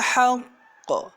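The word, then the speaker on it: الحقّ: Baiklah, sebagai catatan di lafaz yaumul haqq, karena di qafnya itu ada tasdid dan berada di akhir kalimat, maka cara membacanya ditekan terlebih dahulu dan ditahan dulu. Contoh, dzalikal yaumul haqq. Jadi jangan langsung haqq. Nah, itu tidak benar. Yang benar adalah dzalikal yaumul haqq. Nah, seperti itu cara membacanya.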